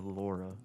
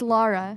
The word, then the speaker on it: Lara: Do you say it Lara or Laura? It's Lara. Lara. It is It's Lara. supposed to be pronounced Lara.